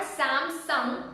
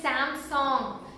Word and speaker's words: Samsung: It's not Samsung. It's Samsung. You know the hearing song? It's just Samsung.